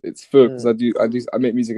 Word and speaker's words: Feux: it's Oh like yeah, Faux. And then oh yeah. before because it's originally a French name, so it's Faux because Mm. I make music in French as well. And Faux like means fire basically.